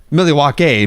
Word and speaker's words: Milwaukee: he goes this pronounce actually pronounced Millie walk a meaning the good land or something like that